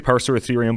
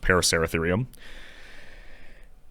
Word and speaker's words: Paraceratherium: I always say Paraceratherium, but I'm pretty sure it's pronounced Paraceratherium.